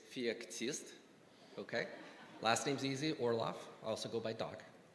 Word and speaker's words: Orloff: for people always ask me how do i pronounce my first name it's fiat okay last name's easy orlov i also go by dog okay because there's